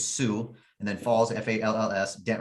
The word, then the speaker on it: Sioux: spell that for us s-i-o-u-x is sue and then falls f-a-l-l-s